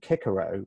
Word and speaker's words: Cicero: Cicero would not have hit Cicero would have pronounced his name kicker oh because all-season latin were hard and in fact